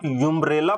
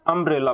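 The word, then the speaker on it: umbrella: आप यूम्ब्रेला पढ़ते हो कि अम्ब्रेला पढ़ते हो।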